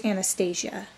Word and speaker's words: Anastashia: are the background, there's Anastashia. Now, to fix the pronunciation a little bit, I put an H to help with the pronunciation, so it's a Shia at the end.